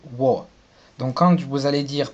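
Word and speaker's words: 我: Donc, pour ce qui est de je en chinois, il va se prononcer wo.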